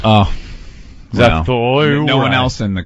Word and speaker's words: Zathura: Well, Zathura.